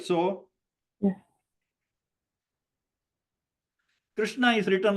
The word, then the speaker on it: Krishna: Krishna is written like this. So this is the Kr. Okay. But if you spell it K-R-I-S-H-N-A, then it will sound like K-R-I.